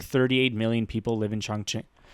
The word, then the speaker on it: Chongqing: So, Chongqing.